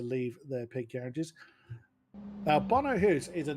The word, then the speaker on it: Bono Huis: is where I first came into contact with Bono Hus. Uh I was forever calling him Bono Huis. So add him to the list of names I've pronounced wrong over the years.